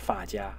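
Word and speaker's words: 发夹: But there is one thing which is called, I think, the hair clip, should be pronounced fa jia.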